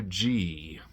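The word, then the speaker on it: Ghee: Is it Gee or G? Hold on. Let's ask the computer. It's pronounced G as in G E, but spelled G H E E.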